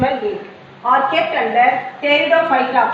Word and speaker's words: Pteridophyta: Are kept under Pteridophyta. P is silent here, Pteridophyta.